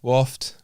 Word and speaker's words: Wofte: at the end yeah it is silent E silent let's put that's